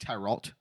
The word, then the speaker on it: tarot: Also, it's pronounced tarot. Okay. Carrot. Like carrot.